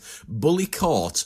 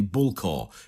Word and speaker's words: Bullecourt: So we're going to start at perhaps the most very obvious feature, the Bullecourt digger. That's one thing. Let's get this out the way. How do we say this name? Bullecourt is how most Australians who have not heard